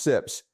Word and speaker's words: CIPS: I pulled the Atlantic Council data on SIPS, pronounced SIPS.